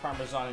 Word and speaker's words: parmesan: set the bowl to the side breadcrumbs parsley parmesan in the egg oh i need to get the egg okay we've got a little egg nice pronunciation of parmesan pepper people mispronounce it uh i picked that